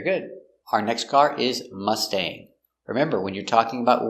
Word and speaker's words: Mustang: red mustang so remember with the word mustang we have a-n-g a-n-g always makes the long a sound like angry or sane pronunciation let's take a